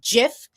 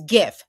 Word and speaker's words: GIF: That's that's a hard G. So that guy who invented them who had to come out and ruin everyone's life saying it's pronounced GIF is full of It's GIF graphic.